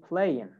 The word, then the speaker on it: playing: But in American accent, most of the times, they don't say the G. So, example, the word playing. In American accent, you say playing, playing.